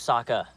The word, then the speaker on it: Sokka: MY NAME'S SOKKA. RHYMES with Wakka But I can't deal with is getting eaten by some giant spirit monster.